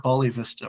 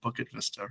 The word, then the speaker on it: Bukit Vista: And also, we're not Bali Vista, we're Bukit Vista, right? So the even the name of the protagonist is mispronounced.